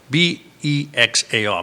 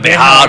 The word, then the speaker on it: Bexar: And the funny thing is, it's spelled Bexar, but they pronounce it Bexar County. Don't know why, right? Instead of Bejar or Bexar.